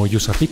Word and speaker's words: USAPEEC: Síguenos en redes sociales como USAPIC LATAM para que te enteres de nuestros eventos y las actividades que realizamos.